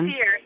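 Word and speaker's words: Cyr: Carrie Ann Sear, I think is how you pronounce her last name. Yeah, Sear, C-Y-R. Yep, C-Y-R, yep.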